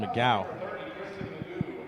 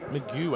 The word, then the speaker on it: McGeough: This is on Kristen McGow. Magoo, actually. That's Magoo. As we get the pronunciation here. Christian Magoo. McGeough.